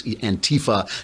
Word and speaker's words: antifa: they call them antifa they put the accent on the wrong saliva it's antifa now beating up people